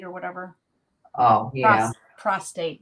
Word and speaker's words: prostate: For your prostrate or whatever. Oh, yeah. Prostate, not prostrate. I always say it wrong.